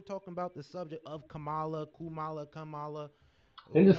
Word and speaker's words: Kamala: dog here's the thing nobody cares about how we pronounce like look camela Kamala it don't matter we could talk about